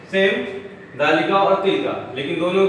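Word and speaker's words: تِلْكَ: नीचे आते हैं, यहाँ पे लिखा है तिल का, यहाँ पे लिखा है तिल का, तिल का। इसका प्रोनाउंस इंग्लिश में तिल का, meaning that, but this is for female.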